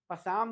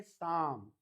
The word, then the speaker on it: Psalm: P is silent, इसीलिए इसको बोलते हैं पसाम, नहीं बोलते, इसको बोलते हैं साम.